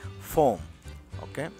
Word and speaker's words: phone: puede decir también usted phone phone What your phone así pH se escribe se dice en inglés p la p pH o n i pH la pH suena como una F Okay What phone number